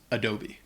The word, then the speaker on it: Adobe: Và nó được phát âm là Adobe. Vì vậy, A đầu tiên là schwa, đó / uh / âm thanh. Và E ở cuối là âm / e / dài.